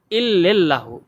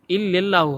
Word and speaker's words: ইল্লাল্লাহু: এরপরে লা ইলাহা বলার পর অনেকে বলে কি ইল্লাল্লাহু। ইল্লাল্লাহু হবে না, হবে ইল্লাল্লাহু। লেল না, লাল হবে, ইল্লাল্লাহু।